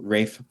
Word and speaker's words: Ralph: again going back to Rafe findes his name is spelled Ralph and I was like